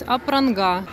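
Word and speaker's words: Apranga: Поэтому правильно говорить Апранга.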